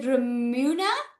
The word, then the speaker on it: Ramuna: Okay, so is it Ramuna? Am I pronouncing that right? Yes, that's right. Hi.